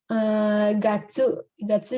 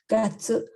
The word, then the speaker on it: gatsu: Terus gatsu juga cara baca dari Tiongkok, gatsu.